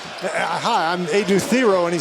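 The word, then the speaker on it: Adou Thiero: himself and he said his name, "Hi, I'm Ad Theo." And he said, "What?" And he pronounced it was Theiero at Kentucky.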